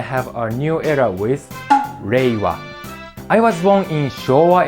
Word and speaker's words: Reiwa: imperial era that's called Meiwa. I'm sorry, I said it wrong. I haven't got used to it. I haven't got used to the new name. That's called Reiwa.